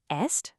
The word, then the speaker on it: est: The verb form est, which sounds exactly like the last one, just is the exact same for both.